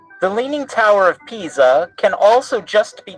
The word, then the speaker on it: Pisa: yeah that is pronounced pisa it is italian so the s is pronounced like a z and the i sounds like e think of a p